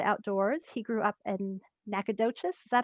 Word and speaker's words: Nacogdoches: who loves the outdoors he grew up in nacogdoches is that how you say it i'm not a tech i'm not originally from texas is that right jay that's right good job nacogdoches and moved to the dfw area at the